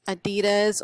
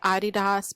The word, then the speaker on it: Adidas: Arbitrage we have some Adidas or as people say you're supposed to say Adidas but I am from the south so I am not going to pronounce it that way but it was an